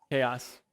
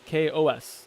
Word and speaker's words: KaOS: in the project and for confusing anybody about calling it chaos uh it's what it looks like to me there's chaos in the name of it okay it's kos apparently like how to pronounce it yeah well i i